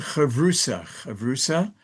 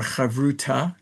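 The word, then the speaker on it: חברותא: And the term is called chavrusa, or chavruta, if you have the Sephardic pronunciation.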